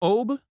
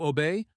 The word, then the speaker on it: Aube: Oba, sometimes also pronounced closer to Obey or Alba in older dialects, is indeed one of